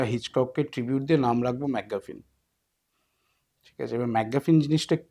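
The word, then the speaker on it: MacGuffin: হ্যাঁ, ম্যাকগাফিন, ঠিক প্রোনাউন্স করে থাকি, ম্যাকগাফিন, এটাই হ্যাঁ।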